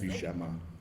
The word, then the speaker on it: Buscema: I said Buscema.